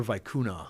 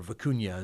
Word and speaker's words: vicuña: So we've got some stuff that's called pure vicuna, or vicuña is how some people pronounce it.